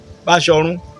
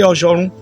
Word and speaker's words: Bashorun: Bashorun, Bachono. If you get to Oyo, they are not going to say Bashorun, they say Oshorun.